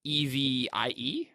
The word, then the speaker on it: Evi: Well, I think it should be pronounced Evie then, and that's what I want to say.